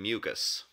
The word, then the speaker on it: mucous: You say it the exact same way.